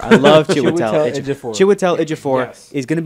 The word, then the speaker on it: Chiwetel Ejiofor: We confuse our pronounce chairs with our shares. Shares in the chair. Yeah. Chiwetel Ejiofor. Yeah. Chiwetel Ejiofor. I love Chiwetel Ejiofor.